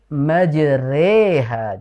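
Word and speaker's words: مجريها: Jadi pakai re namanya imalah. Adapun ketika kita membaca huruf ro di situ imalah re, maka dibacanya dengan ro tipis ya atau tarqiqo sehingga dibacanya ee bismillahi majri majri bukan majri. Jangan terlalu tebal ya.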